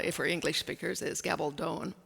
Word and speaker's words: Gabaldon: we're English speakers is Gabaldon it still has a long o in the last the British conferenciation is